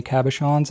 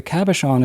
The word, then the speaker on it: cabochon: Those were not Pro Gears, so they didn't have any cabochons in the finial.